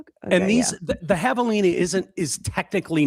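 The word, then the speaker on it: javelina: It looks like Oh, it's spelled with a J, not an H.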